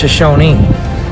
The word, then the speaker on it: Shoshone: north at shoshone and sometimes the native americans will have an i at the end instead of an e so that's an interesting